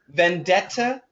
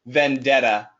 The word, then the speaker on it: vendetta: uh an American pronunciation Vendetta is British Vendetta American a personal Vendetta okay